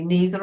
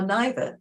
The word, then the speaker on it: neither: With this word, neither, it can be neither or neither. People vary in how they pronounce that.